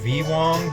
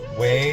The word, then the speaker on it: Wei: is uh we Wong you might look at it and it looks like it says V Wong but it is Wei is how you pronounce it thanks to my buddy